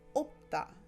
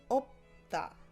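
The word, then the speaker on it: 없다: kiek or a mium, it's usually the first letter of the two that get pronounced. The second one normally gets ignored when it's not conjugated. So for example, you have opta, opta.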